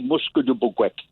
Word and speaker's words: Musquodoboit: So it seems to mean that a place where, first of all, the pronunciation would be Musque de Boguec.